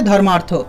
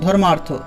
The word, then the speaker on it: ধর্মার্থ: ধর্ম এবং অর্থ এই দুটি শব্দকে যদি আমি একত্রিত করে সন্ধি করি তাহলে উচ্চারণ হবে ধর্মার্থ। ধর্ম যোগ অর্থ, ধর্মার্থ।